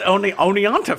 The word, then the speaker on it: Oneonta: How does Oneonta fit in, Jim? Well, it's pronounced one-onta.